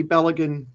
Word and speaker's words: Balogun: I'd hate to be Balogun, that's how you say his name.